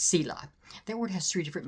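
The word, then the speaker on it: צלע: The word ts l ah or ts e l a is pronounced cila.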